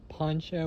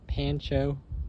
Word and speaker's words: Pancho: got a Poncho or Pancho, different ways people say and pronounce it, avocado tree here.